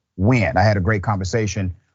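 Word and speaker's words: Nguyen: named BW it is spelled NG yeen but pronounced wi I had a great conversation with Miss W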